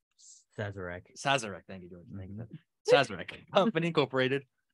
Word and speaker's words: Sazerac: okay I'm gonna have a really bad time pronounce this says Sazerac Sazerac thank you George Megan Incorporated are being sued